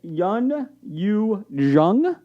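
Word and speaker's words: Youn Yuh-jung: Anyways, and Yun Yu Jung, is that correct? Did I say it right? Exactly right. That was perfect.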